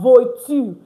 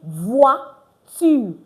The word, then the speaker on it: voiture: It's not voiture. It's voiture. Meaning what? Car. Foi. Meaning what? Faith. So you see it now. Anywhere you have OI and OY, not just OI now, OI and OY, it's pronounced wa.